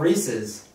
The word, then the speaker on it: Reese's: It's called Reese's.